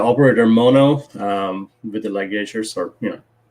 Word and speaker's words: ligatures: mono um with the ligatures or you know how do you say light gauges ligature ligatures okay i said like edgers but anyways like these